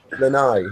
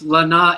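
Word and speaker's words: Lanai: He's Hawaiian Lai. Yeah, that sounds good. Rolls off the tongue. But it's actually pronounced Lana if you want to know the truth.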